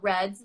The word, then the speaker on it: redd: I learned recently they're called reds, spelled with two D's, REDD. That's what it's called.